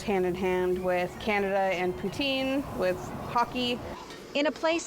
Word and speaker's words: poutine: a Canadian classic but what exactly is poutin it's actually poutin oh I've been pronouncing it wrong I'm sorry um and